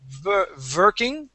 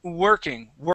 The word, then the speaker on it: working: yeah we are okay I want to practice your W and your V Sounds here it sounded like you were saying vering okay let's let's pronounce an o sound at the beginning we say uring working working try that W working working that's it working working good all right now the